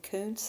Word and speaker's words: Coontz: If you're interested in that, actually, Stephanie Kuntz is a historian of the family. Her last name is spelled Coontz.